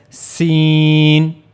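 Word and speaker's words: س: So for scene also there is a sound like whistle scene.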